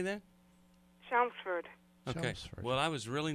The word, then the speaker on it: Chelmsford: let's talk to dina she's calling from clem schlemsford massachusetts how do you say that chelmsford okay well i was really not close so